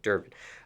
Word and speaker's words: Durban: Okay, and speaking of Durban, did I pronounce that correctly? Yep, yep. Okay, Durban.